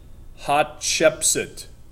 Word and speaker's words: Hatshepsut: Hot would be better word instead of, hot ship suit. Hatshepsut.